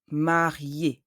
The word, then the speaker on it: marié: There is a double E, but the first E has an accent aigu. When you read an E accent aigu, the pronunciation changes. You have to pronounce E. The final E remains silent. Marié.